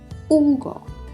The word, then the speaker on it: Hugo: Hugo. So you'll see here that when the first letter of the word is an H, we actually don't pronounce it. Hugo. H U G O.